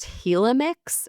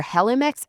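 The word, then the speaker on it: Helimix: The brand, I think it's pronounced Helmix or Helmix. H E L I M I X.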